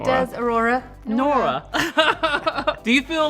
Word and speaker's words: Aurora: It rhymes with your name, Nora. It does, Aurora.